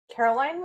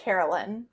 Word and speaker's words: Carolyn: So, Caroline was detained. I think it's Carolyn. I think I've been saying it wrong.